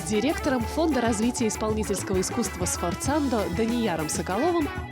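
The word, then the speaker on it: sforzando: Айслу, подскажи, пожалуйста, как произносится, сфорзандо или сфорцандо? Сфорцандо. Это итальянское слово.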